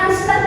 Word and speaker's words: listen: ya mendengar ya Len tulisannya listen bacanya listen huru c-nya sama Jadi kalau